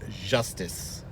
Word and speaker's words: Justice: the name of justice it's spelt justice but as i have been corrected it's justice just justice justice no it's italian um